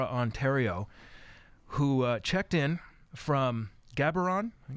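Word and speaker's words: Gaborone: originally from Laur Ontario who checked in from gabron I it's pronounced gabron in Botswana in Africa tonight and uh he's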